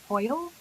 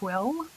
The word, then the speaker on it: hwyl: It is a Welsh word, although it has been brought into the English language. I believe the correct pronunciation is Hoyle, although people will also say Whill.